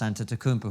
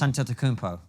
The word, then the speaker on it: Antetokounmpo: James or whoever the current superstars in Giannis Antetokounmpo, whoever it is. I don't think they'll be able to notice. Say that again? Giannis Antetokounmpo.